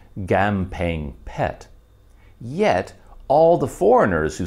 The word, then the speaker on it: Kamphaeng Phet: a k at all it is pronounced more like a hard g and the ph letter